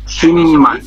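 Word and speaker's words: 십만: সিম্মান উচ্চারণ কি? সিম্মান আমি ডাবল শিখেছি শিমমান।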